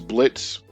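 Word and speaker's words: Blitzø: But um when the teaser trailer dropped for both shows, it was Blitz, the O is silent, lol.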